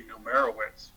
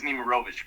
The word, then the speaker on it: Nemirovich: Westerberg had indicated early on that she was taking the deposition of, I always say Numerowitz, but that's not the right pronunciation. Mr. Nemirovich is here. It is Nemirovich, correct?